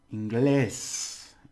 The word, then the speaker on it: inglés: So I'll say it first. Inglés, inglés. Actually, the stress and the vowels are inglés.